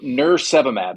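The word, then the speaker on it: nirsevimab: it yeah exactly so nurse seab it's almost like nurse and then virus and then monoclinal antibodies soab right so I think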